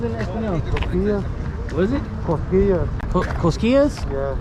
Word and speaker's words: Cosquillas: Tios Castillos? Tío. Tio is uncle. Tio. Tio I've heard that. Cosquillas. Cosquillas? Tio Cosquillas! Yeah, you said it right.